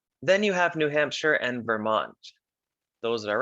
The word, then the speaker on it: New Hampshire: that's new hampshire but it's not pronounced shire you say new hampshire vermont new hampshire then